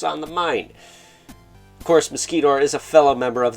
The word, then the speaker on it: Mosquitor: We have Mosquitor, or Muscator if you like me, and trying to piss somebody off by saying his name wrong.